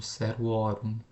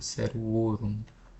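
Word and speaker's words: servorum: E é sempre importante tomar cuidado com a pronúncia aqui do genitivo plural, né? Porque é muito frequente as pessoas confundirem e pronunciarem como o aberto, né? Como se fosse orum, por exemplo, seruorum, né? Mas na verdade é sempre fechado, né? Seruorum, por exemplo, tá?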